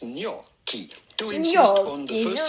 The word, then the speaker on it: gnocchi: So, just replace those letters with a k, and it'll make a lot more sense. Gnocchi.